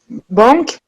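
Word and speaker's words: банк: Et là, on voit qu'il n'y a pas de son, dans ce mot, il n'y a pas de nasal. Les Russes n'ont pas de nasal, donc ça se prononce, chaque lettre se prononce banque, banque.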